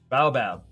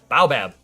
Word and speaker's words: baobab: tree uh uh Bayou Baba or bae Baobab Baobab okay Baobab Miner okay bow bad minor